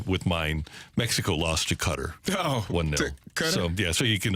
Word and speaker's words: Qatar: understand why somebody else Qatar or is it cutter I think it's officially cutter but people say guitar is closer to like the correct pronunciation but I'm not expecting